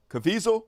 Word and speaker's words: Caviezel: you so Jim cavasil somebody said it rhymes with the weasel cavisil is how they pronounce it uh Jim Caviezel made